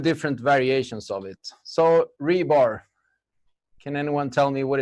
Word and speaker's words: RBAR: we wrapped the contents I'm gonna talk about rebar that's how it's supposed to be pronounced according to Jeff Mode and who I